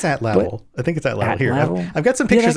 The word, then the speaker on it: atlatl: I've never pronounced that word. I think it's atlatl.